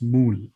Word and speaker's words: MØL: to go look up how to exactly pronounce Mo and I went for Danish you're you're not the